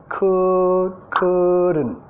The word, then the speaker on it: couldn't: Just couldn't. Acá el couldn't, vamos a comer la L, could. No es el could. Es un sonido que no existe en español, más no vamos a pronunciar la T.